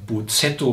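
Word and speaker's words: bozzetto: of all, collecting ideas, making a buzzetto, that's how you say it, so the comes from Italian Concept a tone sketch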